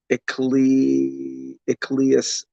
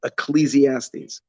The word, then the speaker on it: Ecclesiastes: Now, the word for Keheles, I think it is Ecclesias. No, I don't know. So I looked at it. I did pronounce on Google. Today's days, thank God we can get help. So let's listen to it together. I wrote how to pronounce. Let's do this. Ecclesiastes. Oh, there we go.